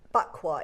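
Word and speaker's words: Baqua: It's a bakwa. It's spelled B-A-Q-U-A. Bakwa.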